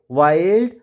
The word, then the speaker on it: wild: क्या पढ़ेंगे चाइल्ड, और इसको विल्ड ना पढ़कर पढ़ेंगे वाइल्ड, और यहाँ पे माइल्ड के रूप में पढ़ेंगे।